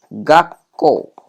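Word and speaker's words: がっこう: Maka cara bacanya berubah menjadi gakko. Ini ya, bunyinya huruf su kecilnya ini membuat huruf yang di sebelahnya itu jadi apa? Bunyi konsonannya itu berganda. Kalau dia bersebelahan dengan huruf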